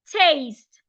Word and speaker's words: taste: wood then we have taste the E is silent in taste and lastly we have